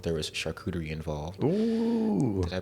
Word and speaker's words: charcuterie: There was charcuterie involved. Ooh. Did I pronounce that correct?